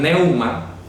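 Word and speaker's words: πνεῦμα: Y nefmático viene de la palabra griega nefma, o le traducen, algunos lo pronuncian neuma, nefma, ¿ya?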